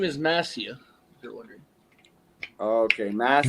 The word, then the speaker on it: Massia: He said You said it's Massia. Hup and what? Massia. Massia. Massia. Not Massia. Messiah. S-I-A. The I sounds like an E.